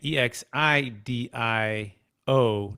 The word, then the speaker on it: Exidio: x i d i o dot co again e x i d i o dot co um dan the name um exidio